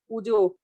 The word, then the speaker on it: puja: And puja, we pronounce it as puja, but it's not wrong, like pujo. But sometimes I think that it's all over India, we need to say it puja.